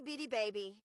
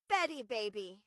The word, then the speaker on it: Bitty Baby: Not itty bitty baby, not Betty Baby, but Bitty Baby.